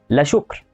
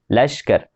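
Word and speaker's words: لشکر: مثال تاني، الكلمه دي تنطقها ازاي؟ هتنطقها لا شكر، بس هي ما بتنطقش كده، هي بتنطق لشكر.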